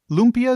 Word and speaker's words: lumpia: Um, you mentioned you mentioned the uh spring rolls and those are um is do I have the pronunciation of this right? Uh, Lubia. Lubia.